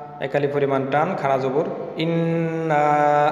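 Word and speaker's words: إِنَّا: ইন্না নার উচ্চারণকে আমরা তিন আলিফ পরিমাণ টানছি, এর কারণ হচ্ছে মদের হরফের উপরে চিকুন চিহ্ন থাকলে তিন আলি পরিমাণ টেনে পড়তে হয়।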